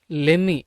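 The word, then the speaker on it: let me: இந்த லெமி check, லெம்மி அப்படின்னு சேர்த்து உச்சரிக்கணும்.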